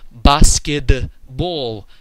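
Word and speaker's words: баскетбол: The word in Russian for basketball is pronounced basketball. Very, very distinct D in the middle of the word, even though it's written with a T.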